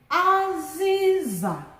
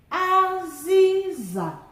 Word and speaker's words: aziza: Aziza, aziza, high, high, low.